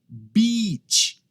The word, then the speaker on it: beach: Beach é um i bem longo, tá? Até chego até sorrir. Beach. Eu estou pronunciando a long vowel sound, é um som longo.